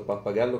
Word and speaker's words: pappagallo: Io ho scritto pappagallo con l'accento sulla pappagallo. Pappagallo. Ho sbagliato l'accento, pappagallo, ok.